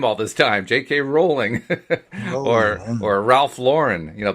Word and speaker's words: Rowling: Rowling rather. I've been mispronouncing her name all this time. J.K. Rowling, Rolling.